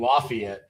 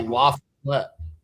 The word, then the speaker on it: La Follette: I thought you were just mispronouncing Lafayette. It's definitely La Follette.